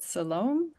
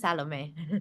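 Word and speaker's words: Salome: to mispronounce your name is it salom hi my name is salame salame thank you I did mispronounce it okay great yes what's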